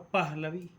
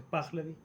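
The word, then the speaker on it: Pahlavi: Eh, bien, la monarquía de los shas de la de la dinastía de los Plavi que lo lo la suele pronunciar mal, pero se pronuncia spaglavi eh va a tener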